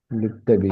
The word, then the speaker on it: للطبيب: للطبيب എന്ന് പറയുന്നത് ഇതാ, ലിൽ എന്ന് പറയണം. ലിൽ എന്ന് ലാം ഉച്ചാരണം ഇല്ല. അത് ശംസി അക്ഷരം നമ്മൾ പഠിച്ചു. ആ ആ പഠിച്ചതൊക്കെ നമ്മൾ ആവർത്തി വായിച്ചുകൊണ്ടിരിക്കണം. എല്ലാ ദിവസവും വായിച്ചാലും കുഴപ്പമില്ല. ഒരു 6 മാസം. للطبيب അഷറ അഷറ അഷറ അഷറ വായിക്കൂ.